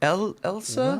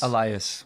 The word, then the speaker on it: Elias: How do we say his name? Elsa? Whoa. Elisa? Is that an impossible? Or not? Elias? Elias. That's what it is.